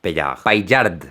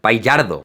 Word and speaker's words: Paillard: Le pido a mi primo que lo pronuncie para no arriesgarme. Jean-François Paillard. Paillardo.